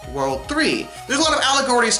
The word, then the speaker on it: WWW: No, not spelled World 3, spelled WWW, but pronounced World 3.